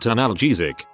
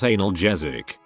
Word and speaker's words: analgesic: That's actually pronounced analgesic, not analgesic.